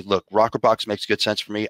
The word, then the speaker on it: rokrbox: step one if somebody wants to say look rocker box makes good sense for me I want to